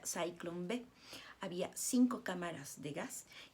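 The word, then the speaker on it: Zyklon: el gas si bueno se escribe ciclón pero se pronuncia saint-cloud había cinco cámaras de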